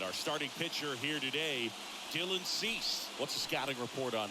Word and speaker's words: Dylan Cease: becomes a little tough I was corrected in the pronunciation by the way Dylan cease so we'll see how